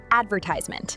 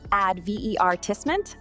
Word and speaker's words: advertisement: Advertisement. British, advertisement, American, advertisement. Which one sounds better to you?